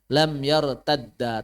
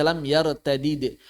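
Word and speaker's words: لم يرتدّ: sudah hilang yang pertama lam yartadda tidak dibaca lam yartadid walaupun secara bahasa boleh kalau secara bahasa boleh dibaca yartadin boleh dibaca y tadah cuma dalam mushaf Quran kita ikut ya tanda bacanya Kenapa karena sudah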